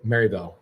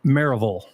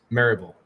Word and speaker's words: Maryville: know what's funny is it's spelled Maryville but you say it marville maraville marville that's how people say